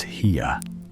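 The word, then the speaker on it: Haigha: His name is Heia. He pronounced it so as to rhyme with mayor.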